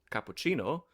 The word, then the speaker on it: cappuccino: And English happens to get words from Italian, like, hmm say, cappuccino, that has the Italian soft C.